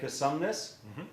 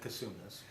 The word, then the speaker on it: Cosumnes: center with larry larry's a volunteer here at cosumnes did i say that right yes because now there's variations of how you say that right a lot of people pronounce it consume this let's start with the name if we would